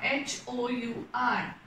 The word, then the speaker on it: hour: word starts like r h o u r now here also we are using and why because h is silent here okay when we pronounce